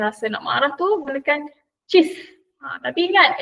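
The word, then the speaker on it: cis: Jadi kalau next time macam rasa nak marah tu gunakan cheese. Ha tapi ingat ejaan dia adalah C I S bukan C H E E S E. Cheese.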